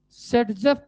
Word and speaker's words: Saytzeff: लिखो in general, so in this case we form Sedgef product। so in this case we form Sedgef product, SAYTZEFF, simply spelling इसकी यही है, Sedgef product.